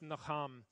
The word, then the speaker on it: nacham: The other Hebrew word is pronounced nacham. And nacham is it's a word like our English word buzz. It sounds like what it means.